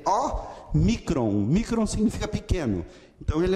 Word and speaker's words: Ômicron: Ele vai ser lido em português como nó. Como a letra O em nó, ok?